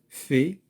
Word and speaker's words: fait: Fait, كذلك le T ne se prononce pas.